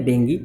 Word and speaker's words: dengue: हैं या फिर इनको डेंगी भी कहते हैं। इसका सही प्रोनाउंसिएशन जो होता है बच्चों, उसको हम डेंगी कहते हैं, लेकिन लोग इसको डेंगू या डेंगी दोनों रूप से कहते हैं।